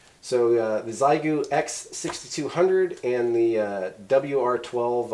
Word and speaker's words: Xiegu: Uh I say Zigu because um I believe in this country primarily when something starts uh with an X, we uh kind of pronounce it like it starts with a Z. Uh good example with that would be the movie uh Xanadu and uh the drug Xanax, but uh anyway, it's Americans for you, right?